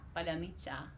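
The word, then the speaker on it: паляниця: Once again. Tsa in the end. Tsa. Tsa. Yeah, you say tsa, but you need to say tsa. Tsa. Like Tsa? Palyanytsa. Palyanytsa. And Almost there. You need to say palyanytsa, not palyanytsa. Palyanytsa. Okay. Palyanytsa.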